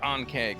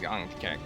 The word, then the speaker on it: Ankek: No, not Ankeg, Ankek.